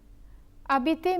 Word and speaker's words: habiter: Habiter means to live. The H is silent because it is a mute H.